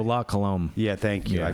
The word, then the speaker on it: La Colombe: The Lacums or something. The Lacromes Nitro. I can never pronounce it. Oh, La Colombe.